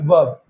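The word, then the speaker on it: verb: इसमें जो आर होता है वो साइलेंट होता है, इसको बोलते हैं वर्ब, ठीक है ना?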